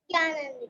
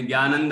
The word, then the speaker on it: ज्ञानानंद: ज्ञानानंद की। ज्ञानानंद। तुमने ज्ञानंद बोला, ज्ञानंद, ज्ञानंद नहीं, ज्ञानानंद। ज्ञान और आनंद दो चीजें है ना, उनको मिलाया तो ज्ञानानंद।